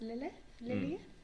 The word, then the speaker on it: Keyleth: I think it's pronounced Lilith. Lilith sounds Lilith.